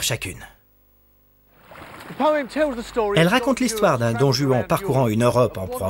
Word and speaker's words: Don Juan: À prononcer Don Juan, et surtout pas Don Juan, sinon il y a plein de rimes qui ne fonctionnent pas.